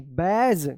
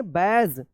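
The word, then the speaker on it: badge: बी ए डी जी ई बैज क्या पढ़ेंगे? बैज जे यू डी जी ई जज इसको ड जज मत पढ़िएगा।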